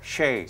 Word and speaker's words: Shea: It's actually Shay. Shay, okay. Which is, I'm originally, my ancestors are from Ireland, so Shay is an Irish name. Shay.